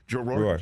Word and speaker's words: Roar: The way you play Jackie Roar is or Raw. I mean, how do I pronounce it really? I mean, how do you Roar? Roar.